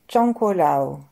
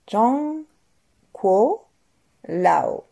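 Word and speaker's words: 张果老: En bas, on va appeler Zhangguo Lao. Zhangguo Lao. Pour s'en souvenir, Lao, ça fait comme l'eau.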